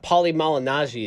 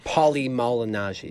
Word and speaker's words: Paulie Malignaggi: of the day so oh yeah yeah yeah Paulie Malignaggi is joining that bare-knuckle championship that we talk